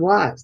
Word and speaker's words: was: when they're spelling, that the A stands for the sound, the S stands for the Z sound, like in words they know, like is and has.